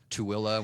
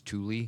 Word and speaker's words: Tooele: Tooele, when everybody else thinks it's Thule.